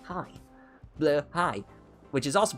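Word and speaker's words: Blåhaj: Blahaj, which is also pronounced Blahaj. Blahaj in German is pronounced the same way as it is pronounced in Swedish, ironically enough, but anyway, I digress.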